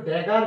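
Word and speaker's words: dagger: দহ হয়ে যে একচুয়ালি নোয়াদ হচ্ছে লিখা হয়ে উচ্চারণটা ওকে এইবার নোয়াদ ড্যাগার বলে শব্দটা মিনা জি ই আর গার মনে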